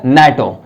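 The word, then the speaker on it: NATO: में आप देख लीजिए अगर यहां पे एन एटी है तो हम इसे अलग अलग नहीं बोलेंगे एन ए टी ओ बल्कि इसे वर्ड्स की तरह वर्ड है नहीं लेकिन प्रोनाउंस जो करते हैं वर्ड की तरह करते हैं तो ये हो गया नेटो तो हम सभी जानते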